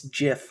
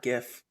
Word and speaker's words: GIF: It's GIF, not GIF. Fuck off. Fuck off. Gladly. But you can't convince me it's GIF because it stands for graphics interchange format, which it's not giraffics.